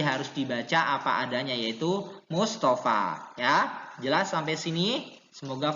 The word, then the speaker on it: Mustafa: jadi Yahya tetap Yahya, Mustafa ya tetap Mustafa bukan Mustofe ya, nggak boleh diimalahkan, tidak boleh dibaca imalah, tapi harus dibaca apa adanya yaitu Mustafa ya.